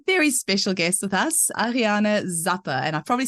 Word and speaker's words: Ariane Zappe: we have a very special guest with us Ariana Zappa and I probably said your name wrong now so you'll have to say it